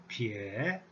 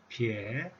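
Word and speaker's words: 丿: The pronunciation is pie, pie. Tone number 3.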